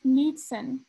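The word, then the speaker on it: Knudson: no ma'am it's pronounced nudeson i said the k is silent nude like naked david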